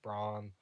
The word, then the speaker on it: Bran: Pretty sure it'd be pronounced Braun, um, which is like a Welsh figure, and it was stated that he was a giant from what I'd read.